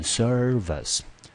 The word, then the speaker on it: service: 注意这字我知道可以念成 vice 啊，当它独立出来的时候，我们说副总统就叫做 vice president，但是这边呢不念 vice，因为它为什么不念 vice 呢？因为它在轻音节，重音节第一个音节落在第一个，念成 service。